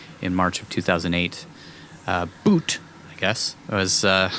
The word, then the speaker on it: Bout: of arms dealer Victor bout boot boot b-o-u-t it says pronunciation looks like it's boot boot we recorded Wikipedia who